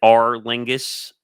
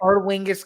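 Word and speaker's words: Aer Lingus: marking the 5th consecutive edition of the was it R Lingus? Is that how you say it? Our Lingus College Football Series, right?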